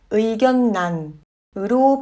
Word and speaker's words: 의견란: 의견란은 의견란으로 발음하는 예외적인 단어입니다.